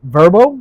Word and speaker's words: VRBO: how that's how the that company pronounces it verbo yeah I've never heard them say that yeah get a verbo I've always heard VRBO